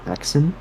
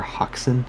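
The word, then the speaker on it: Häxan: section they had a movie called hexen or hoxin I think it's pronounced because it's Swedish and the cover the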